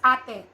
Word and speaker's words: ate: we shorten them as pronounced as ate not it okay if you have